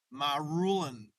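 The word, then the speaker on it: Marulan: Marulin. That's how you say it.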